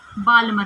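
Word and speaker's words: Balmer: किस में आएगी, हमारे बाल्मर में, या बामर भी कह सकते हैं इसको, एल साइलेंट होता है।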